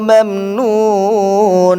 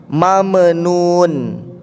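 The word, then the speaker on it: ممنون: Yang sering salahnya di mam, orang bacanya dipantulkan sama dia huruf ma-nya, jadi mame, mamenun. Falahum ajrun ghairu mamnun, mamnun, terlepas dia sehingga huruf ma itu kayak model ada pantulan, padahal tidak ada.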